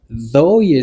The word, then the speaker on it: though: pour capable montrer contradiction prononciation c'est th phonétique il écrit en bas ok premier san ça veut dire vous fait lang comme ça c'est comme si mettez la langue entre les dents ouais c'est z plus